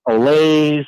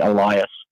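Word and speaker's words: Olaes: definitely some uh some olays a lot yeah there's there's definitely some you know interesting pronunciations but it's actually elias that's good stuff it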